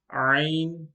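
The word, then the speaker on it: ع: This letter is pronounced from the middle part of the throat. Two letters are pronounced from the middle part of the throat. One of them is Ain and the other one is Ha.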